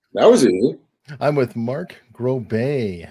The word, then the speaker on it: Groubert: It's like Stephen Colbert. Mark Groubert. I know, but I would never want that association because he's kind of... I'm only using it for pronunciation purposes.